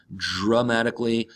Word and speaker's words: dramatically: dramatically as an adverb remember that D and the are together in English or American English sound more like a J and R dramatically intensely noticeable significantly the